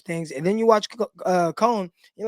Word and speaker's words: Kone: It's actually Kone, not Cone. So Kone is how we pronounce it.